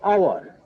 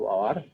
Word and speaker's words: hour: An hour. Here we can see the first letter of hour is. Here the pronunciation hour.